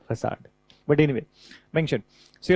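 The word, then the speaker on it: façade: So spelling of the facade is this and so in the beginning I used to feel that how come this pronunciation would be facad that this is the facade but anyway mentioned see Right.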